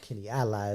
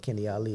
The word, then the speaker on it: Kenny Ali: Kenny Ali is the proper way to say it, but Kenny Ali is what we all know about.